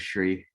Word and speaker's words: Shri: My name is Shri. It rhymes with tree.